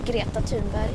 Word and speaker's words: Greta Thunberg: I mean, I don't really care how my name is pronounced. I think it's fun that everyone pronounces it differently. But I say Greta Thunberg.